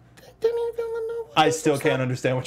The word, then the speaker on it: Denis Villeneuve: I thought it was Denis Villeneuve, but it's not him. Okay. But that's how it's pronounced.